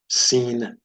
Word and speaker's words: sin: So shin has the SH sound, and then sin has the S sound, as in the word sound.